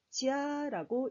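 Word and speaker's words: 家: 자, 집을 중국어로 지아라고 읽습니다.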